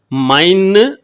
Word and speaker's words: मैं: இதை அரை மாத்திரையில தான் உச்சரிக்கணும். மைன்னு சொல்லக்கூடாதுங்க. மை மை இப்படி சொல்லணுங்க.